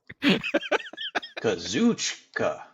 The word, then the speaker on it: Kazuchika: You saying that shit is gonna make me mispronounce it the next time now. Konosuke Takeshita. Yes. Now, what's the other one? Kool-Aid Okada. Kazuchika.